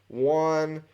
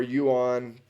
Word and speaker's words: Yuan: D, I've got the Austro-Hungarians, Belgians, Germans, French colonial, British Raj, Yuan, uh, or Yuan, depending on how you say it, Georgian, Russian, Incan.